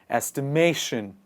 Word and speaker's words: estimation: analyzing maybe estimate but when we add tion to it it becomes estimation the stress falls on the second part estimation when you're basically analyzing